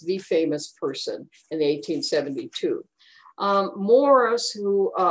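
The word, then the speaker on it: Morse: Morris, which is five miles west of Stanley at 151st in Quivira, it's spelled M-O-R-S-E because they didn't know how to spell Morris, the superintendent of the trains.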